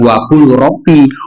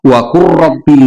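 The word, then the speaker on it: وَقُل رَّبِّ: Jadi bacanya bukan wakul robbi, wakur robbi zidni ilma.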